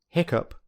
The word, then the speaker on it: hiccup: with butter and finally hiccup which rhymes with pickup therefore we cannot use